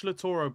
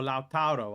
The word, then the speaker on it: Lautaro: As I've said before, if you watch Lautaro play, or Lautaro, however you want to pronounce it, he operates in a two.